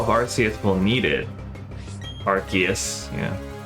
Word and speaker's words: Arceus: Arceus, yeah. I don't like that pronunciation. I know they did it so they wouldn't have to say arse, but like, come on. Archus.